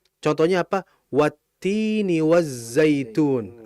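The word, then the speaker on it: وَالتِّينِ: Apakah kita baca wal tini? Tidak. Ya. Tin itu kan adalah isim, nama, kata benda, buah gitu kan. Sehingga ketika ada lam mati ketemu setelahnya isim dan ternyata itu huruf ta isimnya itu diawali huruf ta, maka kita enggak boleh menjelaskan lamnya karena dia sifatnya hukumnya adalah idgham langsung dimasukkan huruf tan-nya wattini wazzaitun.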